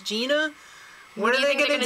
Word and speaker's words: Gina: up next Gina Irene it's Gina not Jenna we know she also dumped her last name too it was Auto and I'm thinking that could be misconstrued a lot if they mispronounce Gina what are they going